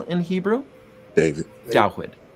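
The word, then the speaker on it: דוד: Dawid, which is the Hebrew pronunciation for the name we English speakers call David.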